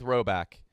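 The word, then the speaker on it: Rhoback: to spring get ready for the spring with roback what's up guys oh yeah good address Friday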